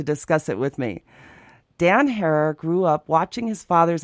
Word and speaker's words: Herer: your last name correctly hair like terror it seems everyone in